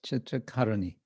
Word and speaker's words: Chitra Karuni: The Chitra Karuni, am I pronouncing that right? Chitra Karuni? Yeah, yes. The accents on the A? Yes, Chitra Karuni. Karuni.